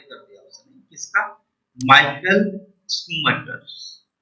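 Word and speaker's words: Schumacher: Michael स्कूमैकर। ठीक है, स्कूमैकर्स भी बोल सकते हो आप, स्कूमैकर्स बोलने की जरूरत नहीं है, स्कूमैकर्स भी बोल सकते हैं, साइलेंट होता है, ठीक है, जैसे स्कूमैकर हो सकता है।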